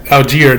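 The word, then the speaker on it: Allgeier: could have had more 34 yards you know Alger that's how you say his name 30 attempts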